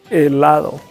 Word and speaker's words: helado: So in Spanish, every time, not just 1 time, 2 times, every time you see H in Spanish, is silent, so that we don't pronounce H. Tenemos helado.